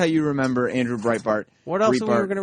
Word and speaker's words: Breitbart: how you remember that's how you remember Andrew Breitbart what else we going to remember him for